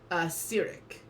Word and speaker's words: Cyric: How do you pronounce the god's name? Cyric.